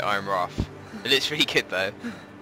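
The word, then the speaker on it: Ironrath: That's how you pronounce it, Iron Wrath.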